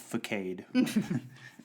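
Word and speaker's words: façade: It's pronounced facade.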